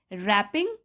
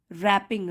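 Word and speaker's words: wrapping: While रैपिंग the tape, यहाँ पे W silent है। रैपिंग, रैपिंग means लपेटना, tape,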